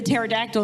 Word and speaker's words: pterodactyl: Why can't you hear the pterodactyl in the bathroom? Because the P is silent.